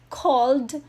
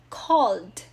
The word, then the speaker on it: called: here call calls calling called cold okay not cold ebay on cold okay called called expect expects expecting expected expected follow follows following followed followed okay the d sound compare it with follow follow followed so see the final sound should be heard because it shows that it's in the past form or in the past participle form decide decides deciding decided